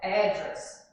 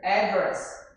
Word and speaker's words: address: The word address for British is emphasized in address. Certo? Então, a palavra endereço, né? Address. No inglês britânico, é enfatizada na primeira sílaba, né? Só no A, só no Mas para os americanos, né? Já fica diferente aí, ó. Já junta com D, address, tá?